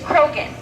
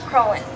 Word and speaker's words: Croghan: Most people around here think that the name is Croghan. It is actually pronounced Crowland.